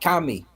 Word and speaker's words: Kemet: don't think so it's now pronouncing Coptic Kami what happened to the te it changed over time it morphed so we know it morphed U knows it morphed now you guys know it morphed because it's no longer there when you pronounce it in the final form of Coptic which is the final form of Egyptian it's Kami now as opposed to Kim